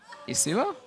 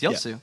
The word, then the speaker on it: Yasuo: will you mispronounce Yasuo yua yasua yosu okay yosu there we go you're pronouncing wrong it's yosu all right guys thank